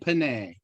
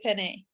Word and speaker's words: penne: lived in Italy for a while, so I recommend you do not say penne. Penne. Pasta Penne. penne. Because Yeah, Accent on the first you know, the syllable.